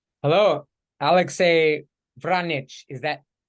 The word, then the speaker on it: Vranich: Hello, Alexei Vranich. Is that pronounced correctly? Damn close. Alexei Vranich. Alexei Vranich. Okay, okay. Yeah, whether there's a trill on that R is always tricky for me.